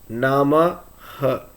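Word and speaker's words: नमः: For example, a sentence ending with Nama and Visargam will be pronounced as Namaha.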